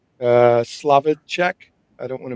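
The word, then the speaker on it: Slavicsek: So he also he wrote scared stiffs uh with Bill is it Slovc uh Slavichek? I don't want to mispronounce that. Yeah, the Slavichek.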